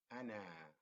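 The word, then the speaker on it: أنا: We said that alif, when alif falls at the beginning, alif does not behave as a long vowel, but instead it behaves like a consonant. So here the first alif is a, na. So the second alif is na, highlighted in red, and ana means I am.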